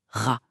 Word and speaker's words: Ra: Il sait que soleil se prononce ra.